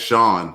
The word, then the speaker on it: Sean: Hey, Pat, it's Sean, like Sean Connery. Yeah, it's spelled the exact same.